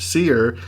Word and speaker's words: Sear: Cole Sear, pronounced Sear, is able to see things ordinary people cannot.